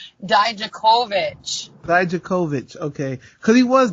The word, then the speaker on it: Dijakovic: Dijakovic.